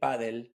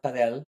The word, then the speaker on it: padel: So I would make everyone say paddle and not padel.